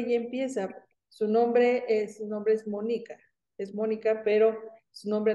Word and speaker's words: Mónica: Y bueno, mi nombre de pila es Mónica, justamente con acento en la O, pero por una u